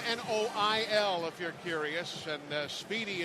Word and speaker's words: Noil: for Texas aam yeah noil pronounced like oil finds an opening down